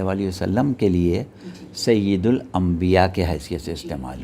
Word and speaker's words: سید: نے استعمال کیا سید، اصل میں اس کا صحیح تلفظ ہمارے ہاں عموماً غلط العام ہے، جی اور ہم بھی یہی کہتے ہیں، آپ بھی یہی کہتی ہیں، سب کہتے ہیں۔ جی صحیح تلفظ اس کا زیر سے ہے، سید ہے سید، جی، یہ میں نیچے زیر ہے، اچھا پہلی چیز۔ دوسری